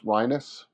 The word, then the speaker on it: Reines: Philippe Reines. It's pronounced more like sinus, Rhinus.